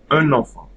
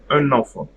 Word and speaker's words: un enfant: Okay, I will just pronounce all of them together. So, dans une classe. Dans une classe. Un enfant. Un enfant.